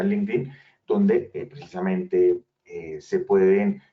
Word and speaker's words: LinkedIn: como linkedin es decir o linkedin pero realmente se pronuncia linkedin donde precisamente eh se